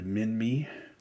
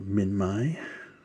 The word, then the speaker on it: Minmi: So that lived in the same time frame, as well as the Minmi, or Minmi, however you want to pronounce it, and also the Sauropelta.